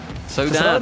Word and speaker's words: SAUDADE: SAUDADE, they told us.